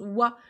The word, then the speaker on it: は: premières le voit donc qui s'écrira mais qui se prononce voix c'est la particule de